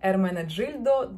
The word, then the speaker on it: Ermenegildo: В итальянском языке, если после G стоит I, оно произносится как G, и Z произносится как Z, поэтому Ermenegildo Zegna.